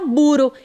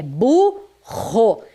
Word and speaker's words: burro: Vejam que a pronúncia exige força. Burro. Se eu colocar um R só, vai ficar buro. Eu não falo que o nome daquele animal é buro. Não, é burro. A pronúncia exige essa força, a pronúncia exige essa potência, então eu coloco dois R's mesmo estando entre vogais.